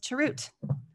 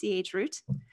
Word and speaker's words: chroot: And I'm going to begin our container history lesson with chroot, or chroot, or changeroot, however you want to pronounce it.